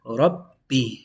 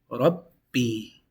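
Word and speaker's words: رَبِّ: So this is broken down like this. There's double B. One takes sukun. The other one takes this harakah, which in this case is the kasra. So it's read Rabbi.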